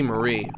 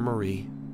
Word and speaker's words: Mari: see my sister Marie also with the way it's spelled it might be pronounced Mari but I don't care I'm going to keep calling her Marie omori you're okay oh